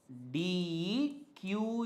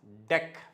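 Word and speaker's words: deque: should call it as deck its pronunciation is deck not DQ okay okay the actual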